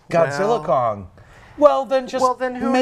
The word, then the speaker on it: Godzilla x Kong: The studio finally sent out a press release saying the X is silent. Oh. So it's Godzilla Kong.